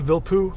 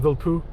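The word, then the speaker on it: Vilppu: Um, Glenn Vilpoo, I think that's how you say his name, last name. Vilpoo. Um, V I L P O or PPU, I think. Vilpoo.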